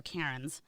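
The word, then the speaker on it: Cairnes: by Cameron kons Karens is that how you pronounce it Kens kons Karens I'm gonna go k oh my God they're Karn uh and Colin Karn uh written by and it's just the same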